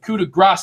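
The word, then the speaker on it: coup de grâce: And by the way, I am pronouncing that correctly. I took a French class and they gave me crap for saying coup de grace before I started saying it differently.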